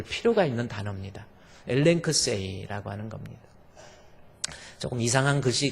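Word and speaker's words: ἐλέγξει: 볼 필요가 있는 단어입니다 엘크 세라고 하는 겁니다 조금 이상한 글씨 같지만 엘크 세라고 있습니다 앞에이 발음이 나오고 남다가 L 발음이 발음 그다음에 감마가 g 발음 그다음에 크시 발음 KS 발음입니다 그다음에 e 발음 I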